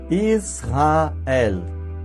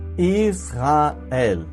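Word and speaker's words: ישראל: The diacritic mark found under the Reish is a Hebrew vowel. It is called kametz and sounds A, like an A in Amen. This is Aleph. Aleph itself is always silent. Even though our Aleph is silent, it bears a diacritic mark or a vowel. The diacritic mark found under the Aleph is called Tzere and should be pronounced E, like an E in they.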